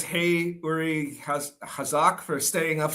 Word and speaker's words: Uri: Uri. All right, perfect. Thank you for correcting the pronunciation for me there.